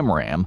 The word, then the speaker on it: AMRAAM: Their primary long-range air-to-air missile, the AIM-120 Advanced Medium-Range Air-to-Air Missile or AMRAAM (pronounced am-ram), was suddenly outclassed.